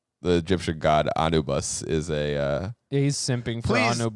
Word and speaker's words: Anubis: like the Egyptian god Anubis is a uh is simping tell me what I'm saying it how to say it correctly I'm sorry but it's Anubis Anubis I mean I